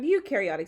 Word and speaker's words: eukaryotic: that's not bacteria have eukaryotic cells and that means they do have a nucleus and organelles and you rhymes with dew so eukaryotic cells do